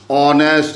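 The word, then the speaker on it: honest: अपन ओ से चालू करते हैं, एच का प्रोनाउंसिएशन नहीं करते, ऑनेस्ट ऐसे बोलते हैं, ऑनेस्ट।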